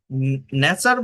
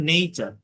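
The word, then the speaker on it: nature: মনে করেন আমি একটা লেটার লিখলাম এন এটি ইউ আরই তাহলে এটাকে আপনি কি বলেন ন্যাচার বলেন না এটাকে ন্যাচার বা আপনি যদি সঠিক উচ্চারণ জানেন এটাকে বলবেন নেচার আমি যদি বলি যে এফ ইউটি ইউ আরই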